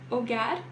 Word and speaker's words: hogar: aqui é muito importante o h não faz som em espanhol em nenhuma palavra tá então Ola Oi a ser nunca ela vai ter som tá bom para aí na sua leitura hogar e Honor OK agora vamos para